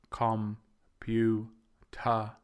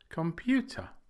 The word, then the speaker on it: computer: or stronger than others so we don't say comp you ha they are not all evenly stressed the middle syllable computer is stressed computer and in the